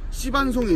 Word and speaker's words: 씨반송: 이 반송에 대해서 잠깐만 좀 알려드리면, 반송은 전목반송과 씨반송이 있습니다. 네, 발음을 좀 조심해야 될 것 같긴 한데 씨 반송입니다.